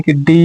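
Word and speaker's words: could: अगला है कुड और डी के पहले फिर से एल आ गया तो इसी को भी इसको भी नहीं पढ़ेंगे।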